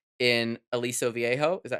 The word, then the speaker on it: Aliso Viejo: So, you were at a city council meeting, right, in Aliso Viejo, is that how you say it?